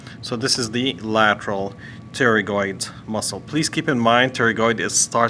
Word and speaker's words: pterygoid: this is the lateral pterygoid muscle please keep in mind - regardless starts with a P while the P is silent alright alright so if